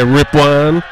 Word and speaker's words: Ripon: in there Henry ripan it is Ripon Gil you are pronouncing it correctly I just like to say ripan and that's exactly what